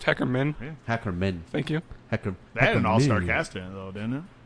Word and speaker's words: Hackerman: Hackerman, movie #movie buff, It's pronounced Hackerman.